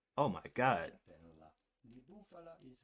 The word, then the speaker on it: stracciatella di bufala: Stracciatella di bufala is how it would be said in Italian, but it'd be fine in English to say stracciatella di bufala.